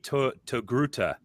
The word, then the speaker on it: Togruta: Oh man, they're saying this because I always pronounce it incorrectly. I always say Togruta, but it's not Togru, right? It's not with an R, or is it with an R?